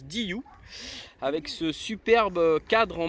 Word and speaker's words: DYU: DIU à DIU oui parce que ça se prononce DIU avec ce superbe cadre